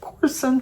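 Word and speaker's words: Courson: And Gina Corson, C-O-U-R-S-O-N, she said to pronounce it like Orson, but with a C, Corson.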